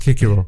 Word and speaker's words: Cicero: about pronounced kaiser yes cicero would have been pronounced kikiro that's that says uh just to cut you